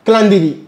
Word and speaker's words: Calendly: Alors, il y a une autre application que je commence à utiliser depuis 2024, Calendly. Calendly, c'est comme Calendly, hein, Calendly, voilà, Calendly. Ça s'écrit, je pense, C-A-L-E-N-D-L-Y.